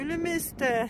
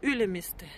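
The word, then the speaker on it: Ülemiste: Я все время говорю Ylemmiste. Там такое на... А надо Ylemmiste. Как-то на первый слог в эстонском.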